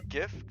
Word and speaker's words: GIF: here um jeffles um is gift pronounced with a soft G or hard correct answer is it's GIF it's GIF so I know